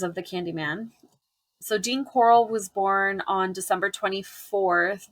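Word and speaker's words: Corll: name is Dean Coral it is pronounced Coral but it's not spelled with the a you know at the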